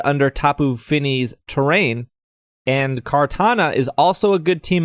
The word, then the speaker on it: Kartana: Is that how you say it? Kartana? Katana? Kartana. Like the sword.